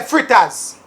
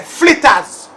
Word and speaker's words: flitters: First of all, we don't say fritters. In Jamaica, we say flitters.